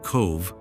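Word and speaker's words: Cobh: pronounced cove which means sheltered harbor.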